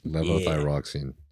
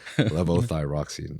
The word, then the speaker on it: levothyroxine: Levothyroxine. It's It's literally exactly how it's spelled with the Y, but I can't say it, bro. Levothyroxine.